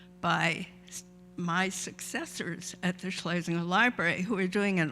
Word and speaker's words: Schlesinger: It's pronounced Schlesinger. That's the family's pronunciation. and it's less of a mouthful than Schlesinger.